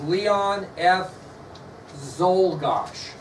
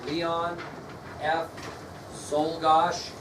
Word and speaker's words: Czolgosz: The president's assassin was Leon F. Czolgosz. Leon F. Czolgosz. It's not spelled like it sounds.